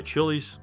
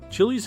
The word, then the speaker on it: Chiles: film Moonraker impressed by Chili's he invited her to audition it's worth noting that her surname is pronounced similarly to files but with a CH at the beginning Lois Chile's journey into acting and